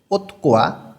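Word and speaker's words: 옷과: অহুই শব্দার্থ, ওতকোয়া ওত অর্থ কাপড়, গোয়া মানে এবং, তধ্বনির বাচ্চিমের পরে গিয়ক আছে, এই ঘটা ক উচ্চারণ হবে।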